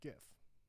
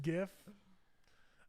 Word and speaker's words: gif: so actually melissa said i say the g in gif like god i messed up i say the g and gif like god so gif golf you guys are still saying and gif uh i say goff